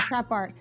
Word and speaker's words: TrapX: X is silent in the trap art, but right.